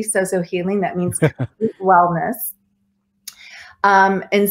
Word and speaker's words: Sozo: So that being said, I went through counseling training, inner healing training, Sozo Healing, which you did say it correctly, Sozo Healing, that means wellness.